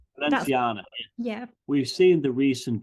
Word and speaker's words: Balenciaga: I just say Balenciana. That's, Balenciaga.